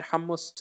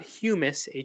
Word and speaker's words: hummus: We all know hummus, and yes, it's pronounced hummus. I know lots of people like to say hummus, but it's hummus, and Hummus, not humus, Hummus.